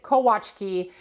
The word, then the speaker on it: Kolaczki: of this cookie before, you have actually probably pronounced it Kolaczki. No, now I can't even say it. Kolaczki. No, Chikski. You have probably pronounced it differently, right? Like look at the spelling. It's cola and then chiski. So Kolaczki, I don't know. But the Polish pronunciation of this is indeed Kolaczki.